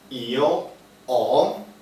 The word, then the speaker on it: ho: Io ho, notice, O is with H, but we don't pronounce the H. It's silent, so it's not io ho, but it's io ho.